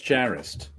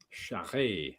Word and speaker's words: Charest: Shire, it is in the pronouncing. Yeah. I've been saying that name wrong for years. Yeah, I always called him Travis Charest. Yeah, I that's used what to. I call. Yeah. I used to until I found out it was French Canadian.